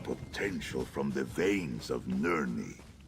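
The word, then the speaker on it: Nirn: Such potential from the veins of Nerie. It's Ner, not Nerie. Ner big dog.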